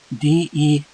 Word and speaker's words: dessert: They are pronounced. They are spoken almost the same. Almost the same. Okay, here is D-E-S-E-R-T and D-E-S-S-E-R-T.